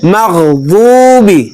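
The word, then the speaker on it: المغضوب: তারপরে হরুফ গাইন গাইন গাইন গাইন গাইরিল গাইরিল মাগদুবি মাগদুবি লক্ষ্য করুন মাগদুবি গাইরিল মাগদুবি অনেকে গাইনকে বাংলা গ এর মত উচ্চারণ করে বলে গাইরিল মাগদুবি মাগদুবি এভাবে বলে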